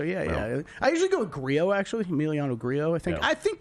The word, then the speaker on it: Grillo: I think I've pronounced it 5 different ways, and I've heard it pronounced 5 different ways. So yeah. I usually go with Grillo, actually, Emiliano Grillo.